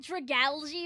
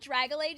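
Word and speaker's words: Dragalge: Listen, I know it's like dragali or whatever, like algae, but in my brain of brains, I just I've called it dragalage since I was like young, so I just can't un unspeak it.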